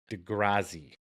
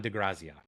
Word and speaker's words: De Grazia: passed recently and his name was uh don dezi I want to say that right but I've been up for so long I'm probably not saying it right graia d de graia that's it sorry it just popped in my